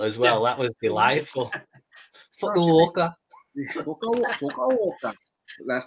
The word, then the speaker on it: Fukuoka: I think it's pronounced fuck you, okay. Yeah. Hear that a lot. Sorry, Charlotte, can you pronounce that for us so we know? Yeah, so you had it spot on for the Abispa Fukuoka. That was better than his. His wasn't spot on at all compared to that.